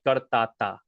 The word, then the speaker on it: કરતા હતા: Again, karta hata is how it's spelled, but we pronounce it kartata.